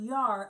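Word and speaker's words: ירא: It's the word yar, and it's spelled yod and resh.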